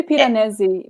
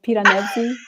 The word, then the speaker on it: Piranesi: i don't know yeah i say piranesi because it sounds italian to me so like piranesi but like yeah you